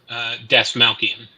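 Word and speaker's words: Dastmalchian: How do you pronounce that name? Das Malkian.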